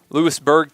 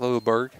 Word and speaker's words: Lewisburg: Shelton, senior from Lewisburg, Tennessee. Not Louisburg, as people maybe in Kentucky would try to get you to think that that's how it's pronounced.